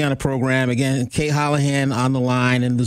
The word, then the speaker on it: Holahan: And it's spelled like Ola and then Han, because that's the best way to break up an Irish last name when you're Jamaican. Just go with Spanish.